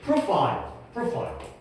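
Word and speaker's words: profile: 프로파일. 우리가 프로필이라고 얘기하는 게 바로 영어 발음이 프로파일이에요. 게이트웨이 쪽에다가 적어두시면 좋겠습니다.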